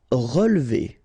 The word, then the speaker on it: relever: Relever. Okay, so first re, then we don't insist on this here.